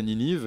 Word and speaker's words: Ninive: Alors voilà, en français Ninive et c'est la même façon de prononcer en anglais, mais pas écrit pareil.